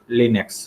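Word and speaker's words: Linux: लाइनेक्स pronounced eight लिनक्स।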